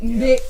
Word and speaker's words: Nde: Nde, that's the pronunciation.